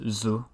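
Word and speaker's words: づ: the vocalized qi now tsu becomes this voiced zoo which is in at least the tokyo dialect tokyo um it's pronounced sim basically the same as zoo however it's from tsu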